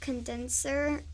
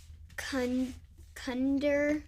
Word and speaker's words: condenser: example of that yeah the word condenser I thought it was cun Thunder yeah yeah it was